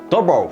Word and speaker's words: DOVOH: れなんか調べたらチェコ語みたいなんですけど、ドボーっていう発音でした。日本語読みだったらなんかドボーって感じですね。